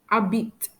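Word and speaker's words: habiter: For H, habit, which means to live. Habit. You can hear that I don't pronounce the letter H. H is a silent letter.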